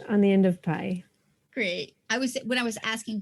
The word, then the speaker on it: Pieh: And I saw PIE was the first three letters. I'm like, well, I like pie. And I'm thinking this is pie.